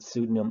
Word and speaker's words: pseudonym: non medical term but pseudonym also has a silent P in front of it often times and you